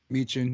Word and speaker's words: Michin: Basically, Bianca Belair, Becky Lynch, Asuka, Alexa Bliss, and Mia Yim or Michin. Is that how you say it? Meechin, yeah. Michin.